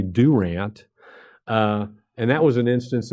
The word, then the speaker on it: Durant: actually involves southeastern state down in Durant or as the locals say Durant and that was an